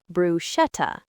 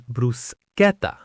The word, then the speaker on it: bruschetta: So, English speakers want to say bruschetta. But in Italian, when ch comes before an e or i, it makes a hard k sound, a c sound. So the correct pronunciation is bruseta.